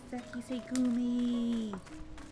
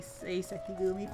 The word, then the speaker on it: Sekisegumi: Sekisegumi. I don't know why my brain decided to swap those syllables around and have me say Sekigumi for a while.